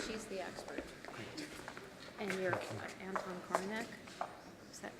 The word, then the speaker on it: Anton Korinek: And you're Anton Korinek. Is that pronounced your name right?